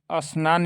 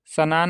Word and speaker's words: स्नान: ठीक हो सकता है ऐसा ना होने के कारण ही लोग स्नान का अशुद्ध उच्चारण अनान या सनान और स्कूल का स्कूल या स्कूल कर बैठते हैं ठीक तो यही अंतर है कि लोग थोड़ा यह बोलने में दिक्कत होता है स्नान है ना स्नान ऐसे है इसको